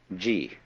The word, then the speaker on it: Ji: First of all, there is a level of being which we will call Ji. The word Ji, which is Japanese way of pronouncing the Chinese Chur, is the world of things and events.